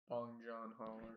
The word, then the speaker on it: Bong Joon-ho: Bong Joon-ho.